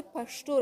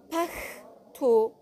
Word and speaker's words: پښتو: حالا شما خود پشتو رو ببینید، پختو پشتو پختو، ولی نوشته باید چی باشه؟ با هین باشه.